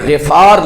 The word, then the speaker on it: غفار: سے یہ نہیں ہے بلکہ غفار لفظ ہے، فعال کے وزن پر شد نہیں پڑھنی اور غین کے اوپر زبر بھی نہیں پڑھنی، زیر پڑھنی ہے، اصل عربی میں تلفظ اس طرح ہے۔ تو بہت بڑا قبیلہ